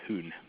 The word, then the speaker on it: Jun: I believe it's pronounced Jun, but it's spelled Jun.